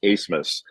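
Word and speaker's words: Abmas: the same guard Max acemus spelled a b m a s and it's pronounced asmus uh but they actually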